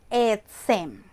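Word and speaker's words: עצם: La palabra hueso se dice etzem. Etzem.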